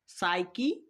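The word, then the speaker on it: psyche: সাইকি সাইকোলজি সাইকিক। এই তিনটা বানানেই আমরা পি এস পাশাপাশি পাচ্ছি। এইজন্য আমরা পি কে উচ্চারণ করব না পি কে সাইলেন্ট রাখবো।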